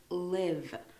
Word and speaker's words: live: it's a verb and it's live whereas this one is live so you say it like you say lie V it's an adjective and